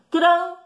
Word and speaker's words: tranquilo: Por isso que ele era empregado para obrigar a pessoa a pronunciar a vogal U. No caso, agora tirou e as pessoas já criaram o hábito de pronunciar a palavra tranquilo.